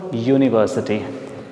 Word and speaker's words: university: But when you speak this word, when you pronounce this word, what is the sound coming? The sound is actually ya, yagya or yaj, ya, right? Now that is why you have to use a before university word.